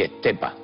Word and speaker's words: Estepa: Y, pero Estepe, ¿qué pueblo es? Parece un pueblo, yo qué sé, de Levante o algo de eso. No, eso es Estepa, pronunciado por muchísimos de los estepeños.